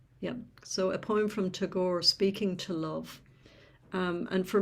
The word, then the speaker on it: Tagore: of my Indian brothers and sisters, for the pronunciation. Tagore, am I correct? Yes. Yeah. So a poem from Tagore, Speaking to Love.